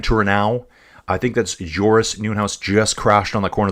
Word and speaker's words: Nieuwenhuis: That's Van Turenhouse, I think. No, Nieuwenhuis. It's Nieuwenhuis. Sorry, not Van Turenau. I think that's Joris Nieuwenhuis just crashed on the corner there into pit lane.